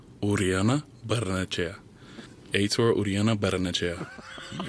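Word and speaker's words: Urionabarrenechea: Uh here he is pronouncing his own name. Uriana Bernache.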